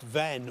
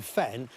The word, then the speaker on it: Vann: Vann, sometimes pronounced Venn or even Fen, means bog, and that's thought to relate to an ancient settlement below the Surrey sandhills.